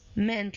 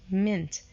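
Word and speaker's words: -ment: it becomes movement movement the pronunciation of meant here it's not meant like this one it becomes like mint like I we pronounced a year like I okay mint movement the third one attract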